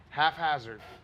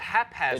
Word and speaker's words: haphazard: just say half hazard half hazard i thought it was haphazard it is haphazard did you say half half hazard damn it's h-a-p-h tan like a quarter